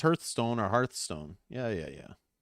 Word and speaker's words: Hearthstone: but it's not like it's not heart stone h-e-a-r-t-h stone hearthstone i don't know this is